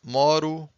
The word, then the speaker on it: moro: In blue, you have the strongest syllable. So this is moro, moras, mora, moramos, moram. So don't forget the strongest syllable. It's usually the second to last syllable.